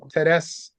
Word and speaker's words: Therese: Teres Amin, but it's spelled like Therese, Therese, and so she's from Cameroon, Okay.